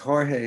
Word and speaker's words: Jorge: hmm there's a saying his name is in Spanish its Jorge it's pronounced Jorge in Spanish yes um yeah so